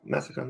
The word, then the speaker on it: Massican: Am I saying it right? Massacon? Yeah, Massacon, yeah. Here we go, everybody.